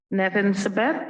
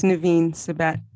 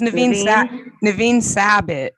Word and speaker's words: Nevin Sabet: Next on my list is Nevin Sabet. Did I pronounce that correctly? Hi, it's Naveen Sabat. It's Naveen Sabit.